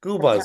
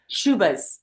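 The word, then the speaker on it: Schubas: So I'm playing in Chicago, As Scubas, September right? 27th Is that with how the you pronounce it? Scubas? Shubas.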